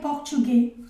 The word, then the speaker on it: portugais: Pero aquí sería portugués, que eso se pronuncia como una E, y esta S al final no se pronuncia, entonces, claro, portugués y portugués.